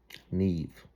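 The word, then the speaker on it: Niamh: When along on a beautiful horse comes a beautiful young lady and her name was Neve.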